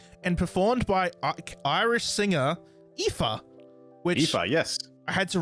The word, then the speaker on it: Aoife: I probably would have gone Oife. Like Aoife. If it's a name like that, I'll try and like either suss out an interview or something. They're pronounced Aoife.